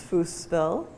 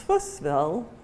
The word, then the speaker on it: Fussville: about the name fussville people know that name by a variety of different pronunciations sometimes it's foosville sometimes it's fussville and sometimes it's fussville